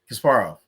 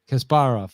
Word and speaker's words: Kasparov: the legendary man versus machine matches between Gary Kasparov. Mhm. Probably didn't pronounce that right. Right in the All right. IBM Blue, Deep Blue. How do you pronounce it? Kasparov. Kasparov.